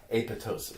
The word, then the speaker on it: apoptosis: also called a pitocin it looks like apoptosis but it's not you say a proptosis so the pee is the second PE is silent and that is just